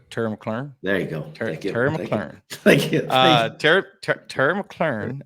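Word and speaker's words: McLaurin: 31 Shane at 33 I mean Terry Terry mclen if you're talking about just talented wide receivers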